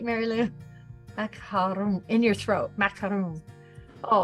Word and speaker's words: macaron: Macaron in your throat, macaron.